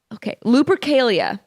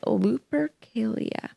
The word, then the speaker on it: Lupercalia: Valentine's Day has roots in the ancient Roman festival of, Lupercalia. I think that's how you say it. Lupercalia.